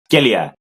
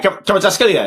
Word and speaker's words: Kvaratskhelia: Let me try and pronounce. Skelia. Yeah, Kvaratskhelia. Yeah. We got it.